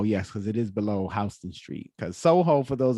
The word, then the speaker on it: Houston Street: recognize houston street because you would probably pronounce it houston but we have old world um pronunciations for many words and i believe houston is an old world pronunciation for houston i believe from my